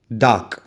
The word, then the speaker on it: dark: But when we pronounce, we call it dark. The R sound is not very, very strong and not prominent. It is very subtle, very mild.